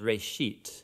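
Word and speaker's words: ראשית: Genesis comes from a Hebrew word. It's pronounced reshit, and it just means beginning.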